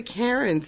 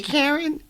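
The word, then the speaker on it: Caron: was like what but their name is spelled c-a-r-o-n and i can understand it being pronounced that way it makes sense i'm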